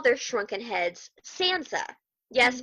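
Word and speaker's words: tsantsa: heads Sansa okay spelled TS n TSA but pronounced Sansa right and that's the word for victory power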